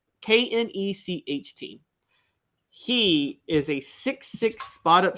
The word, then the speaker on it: Knecht: ready for the weekend, I believe the name is pronounced Knet, Dalton Knet from Northern Colorado, or maybe it's just Dalton Knet, Knecht.